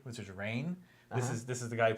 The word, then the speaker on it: Rainn: Because I try to make it a point to say his name correctly, which is Rainn.